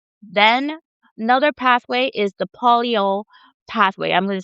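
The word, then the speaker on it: polyol: Then another pathway is the polio pathway. I'm going to spell that P O L Y O L.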